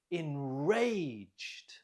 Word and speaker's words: enraged: Note the stress is on the second syllable. Listen and repeat. Enraged.